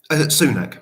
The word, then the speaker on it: Sunak: How do you pronounce his name? Sunak, Rishi Sunak.